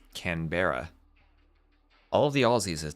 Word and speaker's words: Canberra: As as much as the map looks like it should be spell, it should be pronounced Canberra.